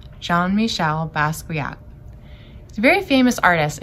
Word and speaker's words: Jean-Michel Basquiat: the artist jean-michel basquiat we say his name john michelle basquiat he's a very famous